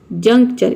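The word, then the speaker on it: juncture: जैसे कि देखिए कभी भी TURE एक साथ आता है, TURE, तो इसको हम चर प्रोनाउंस करते हैं।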